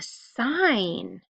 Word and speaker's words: sign: silent W all right down here we have a sign do you remember what two letters went together and had one silent letter and then we just heard n all right I hope you remembered that it was G and N that says n with the silent G now the letter we